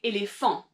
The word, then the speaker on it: éléphant: In French, you would say éléphant. En français, donc éléphant. And so you're putting the emphasis on that last syllable. So a word that's the same, maybe in English or in French, the difference is really that accentuation at the end of a word.